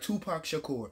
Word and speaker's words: Tupac Shakur: Tupac Shakur.